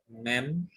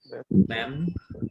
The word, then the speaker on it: Mem: Beth, Mem, and Pe. Now, each one of you pronounce this letter. Beth, Beth, Mem, Mem, Pe.